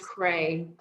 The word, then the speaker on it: Creagh: c-r-e-a-g-h it is great it's actually pronounced cray gray yeah so i